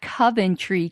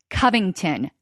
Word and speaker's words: Covington: was corrected on this it's not Coventry Catholic Covington there we go all right so the current situation I would like to use is the I forgot it already again Covington there we go Covington